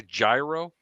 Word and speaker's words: gyro: you've never had a I'll say it like an like an American you never had a gyro a gyro right not a Euro Peter uh uh no